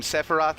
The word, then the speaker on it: Sephiroth: a lore of Saphira again with the pronunciation thing i've always called him Saphira I know in the game they call him Sephiroth you I will never